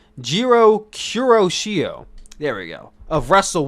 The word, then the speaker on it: Jiro Kuroshio: that guy we have ikiman jiro the former jiro kiroshui oh my i butchered his name jiro kuroshio there we go of wrestle one so he's